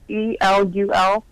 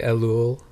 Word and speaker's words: Elul: E-L-U-L?